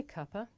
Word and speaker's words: cuppa: of tea good now this is such a natural and common way to pronounce cup of that in British English the word copper actually means a cup of tea and after all that